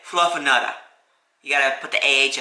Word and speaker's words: Fluffanutta: This is the grilled Fluffanutta. There we go. That's how you say it. Like I said earlier, you gotta say it with a Boston accent, otherwise it's not, you're not saying Fluffernutter.